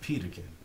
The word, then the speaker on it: Peterkin: what it is so difficult for people to pronounce my name they call me everything but peterkin okay and I like you know what let's